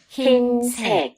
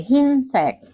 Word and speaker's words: 흰색: 흰색, Oke, 흰색. Dibaca i juga 여러분.